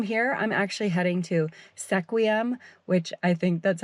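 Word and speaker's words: Sequim: right everybody so I totally screwed up the pronunciation of this town it's actually scream like scream so sequium was definitely not right I actually just picked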